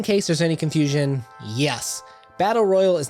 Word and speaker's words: Battle Royal: the 1980s and WWF Battle Royale at WrestleMania or something I don't know it just kept I kept coming back to Battle Royale even though it's Battle Royal so I say it wrong I'm apologizing from the